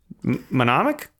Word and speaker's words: mnemonic: Mnemonic? Yeah. How do you Mnemonic. say it? I can never say it. Oh, because there's the N before the So M.